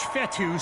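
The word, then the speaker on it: Fetu: keep possession so coach fettu spelled f-e-t-u for the longest time i was pronouncing it coach fetta like feta cheese so let's just say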